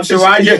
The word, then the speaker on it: Charania: The great Sham Charania.